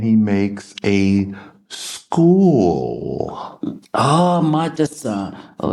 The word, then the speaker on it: madrasa: And he builded in it a midrasha. No. Midrasha. Madrasa. So he journeys there and he makes a school. Oh, madrasa.